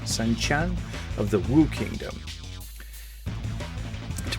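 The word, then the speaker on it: Sun Quan: That's how they pronounce the Q, right? Sun Chan of the Wu Kingdom.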